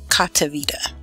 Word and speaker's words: Cotiviti: Okay, so the first job that we have available today is a company called Cotiviti. I believe that's the name, that's how you pronounce it.